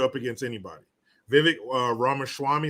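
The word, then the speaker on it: Ramaswamy: against anybody Vivek uh Rama Swami is how you say his last name he's good he's cool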